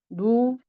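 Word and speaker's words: ν: 그리고 자유도에 대한 부분은 어 비형 자유도 유 아니죠. 누 B가 되겠죠. 누 얘는 누라고 읽어. 누라고 읽어 주셔야 되고 얘는 1 * 100의 제곱으로 계산이 된다.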